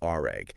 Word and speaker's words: RAG: It's all thanks to this new approach called RAG. And don't worry, we're not talking about cleaning up spills. Oh. It's pronounced just like the word rag.